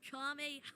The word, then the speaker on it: Kamehameha: It's Kamehameha.